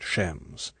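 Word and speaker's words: James: his voice was sarcastic shames Bond he pronounced at shems and nobody myself included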